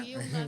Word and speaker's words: Uilna: Estamos dando início a mais um podcast Farpas e Ferpas, com a nossa convidada aqui especial, o Wilna, não é isso a pronúncia? Wilna, é essa.